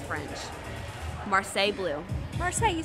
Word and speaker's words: Marseille: Marseille, you said it right.